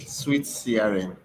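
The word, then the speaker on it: SuiteCRM: of sugar crm oh it's pronounced sweet thank you nick sweet crm okay thank you for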